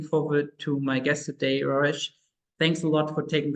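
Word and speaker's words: Rareș: It is pronounced Rares. Bit challenging for people that cannot roll their R's and the S at the end. It's a sh.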